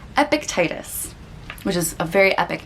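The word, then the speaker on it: Epictetus: wrong very famous philosopher epic titus i always want to say a pic epiticus or something like that but i think it's epictitis which is a very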